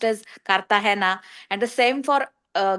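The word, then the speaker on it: Cartagena: The same for kartahena spelled as g e n a but pronounced as kartahena.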